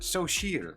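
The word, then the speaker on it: Xochitl: Oh, look, they tell you how to pronounce it. Sochil.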